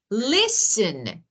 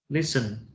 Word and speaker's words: listen: a word okay like listen Okay s t n t is silent is s n so T is silent in s t e n what is that for example look listen listen listen yeah yeah or